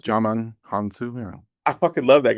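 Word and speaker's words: Djimon Hounsou: So when I think his name's you pronounce it Dimon J Hunsu, j yeah, Jamon Hunsu. Jaman Hansu, yeah.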